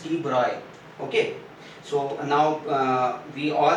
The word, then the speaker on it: de Broglie: by students, even by several teachers also they pronounce it de Broglie, but the name is not de Broglie, it's de Broglie.